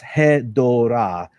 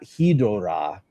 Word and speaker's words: Hedorah: sounds so gatekeepy, but basically the word is Hedorah, and it's not Hedorah, which would mean something entirely different and spelled entirely different in Japanese.